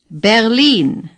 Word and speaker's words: Berlin: blamin say Raymond now Berlin in East Germany say their lean the stress is on the long I lean say lean Berlin the R is hardly pronounced at all you don't have to gargle